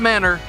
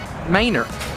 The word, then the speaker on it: Manor: It's not Manor, it is Manor.